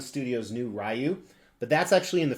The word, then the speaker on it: Ryu: Yeah, that's how I pronounce it, Ryu.